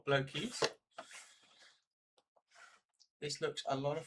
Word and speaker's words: Blokees: I imagine that's how they want it to be pronounced, blokes or Blokees.